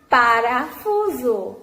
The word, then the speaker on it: parafuso: O nome parafuso se escreve com S. O S fica entre o U e o O. Por isso, ele perdeu o seu som e ganhou também o som de Z.